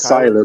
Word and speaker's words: Cyler: It's Cyler, bro.